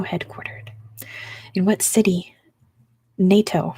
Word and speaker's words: NATO: in what city NATO sorry I'm Californian n-a-t-o NATO it is Brussels that goes to lydmula yes with me I got it in California we would say let me get out of my ASMR voice NATO NATO I would say nato um Mainland Denmark encompasses